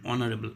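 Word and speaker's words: honourable: তারপরে দেখো রামবাবু ইজ এন অনারেবল। এইচ এর উচ্চারণ যেহেতু সাইলেন্ট অনারেবল উচ্চারণটা সেজন্য এন অনারেবল হবে।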